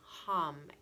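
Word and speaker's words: हं: And then from here, in order to open our throat chakras, we're going to sound the seed syllable for the throat chakra, which is ham, H-A-M.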